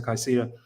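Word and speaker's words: Caicedo: extremely wonderful thoughts on uh casido sicido however you want to pronounce it I think it's aceto um some people say Casita I like the guy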